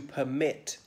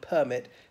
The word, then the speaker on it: permit: or something and then there's to permit the verb with the emphasis on the second syllable was the noun permit has got on the first I think in the